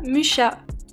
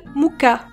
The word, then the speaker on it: Mucha: déjà les commentaires arriver je sais ça ne se prononce pas mcha mais si vous pensez que ça se prononce Moura et bien vous avez aussi tort la prononciation TCK se rapproche plus de muka parce que même si